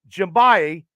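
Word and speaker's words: Njigba: Ohio State receiver Jackson Smith and I will pronounce this right jimbayi from Ohio State and I pronounced it right through the Steelers at 17.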